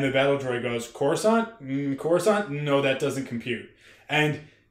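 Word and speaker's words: Coruscant: for like almost decades we all thought it was pronounced kuskin and it turns out that it's corusant and we didn't know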